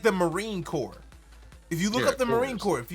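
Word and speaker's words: Marine Corps: y'all y'all are typing in the chat core is spelled c o r PS just like the Marine Core if you look up the Marine Corp if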